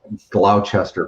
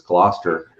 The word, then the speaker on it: Gloucester: my flat was a 91 glauchester place um and so fortunately the customs agent explained to me it was gloucester and i can see